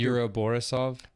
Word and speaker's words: Yuri Borisov: Yuri Borisov.